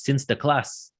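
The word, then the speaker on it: Sinterklaas: to celebrate the event the dutch pronunciation of saint nicholas is since the class when the dutch emigrated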